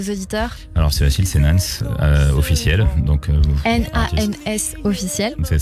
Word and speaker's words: Nans: Alors c'est facile, c'est Nans officiel. Donc N-A-N-S officiel. C'est ça. En fait, et ça s'écrit avec un petit accent S à côté, Nans.